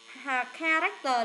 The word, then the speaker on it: character: Character là chữ K này.